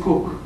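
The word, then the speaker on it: Kook: His name is Cook.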